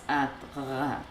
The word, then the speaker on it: atra: And that would be pronounced atra. Atra. Atra. Atra. I still can't do that trill.